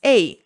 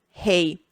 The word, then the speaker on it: Ehi: First, we don’t pronounce the H, so it’s “Ehi” and not “Hey”.